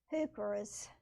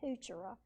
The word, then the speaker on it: heuchera: Here's another plant that I love and was collecting, heucheras. And I looked up the pronunciation so I could get it right, because I was saying heuchera, and my sister said, no, that's wrong. It's heuchera.